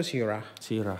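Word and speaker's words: Syrah: Mereka bilang itu Shirah. Ya kan. Kalau untuk di Australia dia bilang Shiraz.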